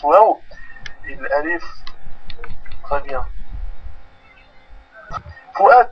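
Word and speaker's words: و: W, ça se prononce wa. Comme en anglais, what is your name? Et bien, le W se prononce waw. Alors, le 9, dans la position originale, se prononce waw.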